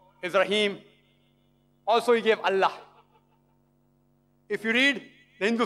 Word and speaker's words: Allah: god almighty is allah they write to that i ela but when you pronounce it we have to tell them pronounce it as allah salaam alaikum my